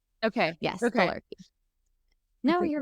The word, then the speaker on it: thelarche: How do you spell it? It's Thelarchy.